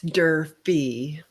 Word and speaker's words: Durfee: Did I pronounce that properly? It's Durfee.